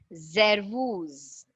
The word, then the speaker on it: Servus: It's hello, guten Tag, guten Morgen, guten Abend, gute Nacht, grüß Gott, grüß Sie, grüß dich, servus. And see to that the S has that B buzzing sound. Servus.